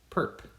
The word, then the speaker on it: perp: This literally just is pronounced perp.